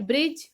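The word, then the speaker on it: bridge: दी silent रहता है like ब्रिज ब्रिज से पहले दी ए रहा है तो दी की आवाज़ हम बिल्कुल नहीं लेंगे दी को हम साइलेंट ही रखेंगे जिसे बहुत ही सिंपल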